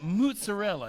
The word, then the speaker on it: mozzarella: Funny story about mozzarella. You know how you taught me how to say mozzarella? Mozzarella. M-U-T-Z. That's how it's spelled.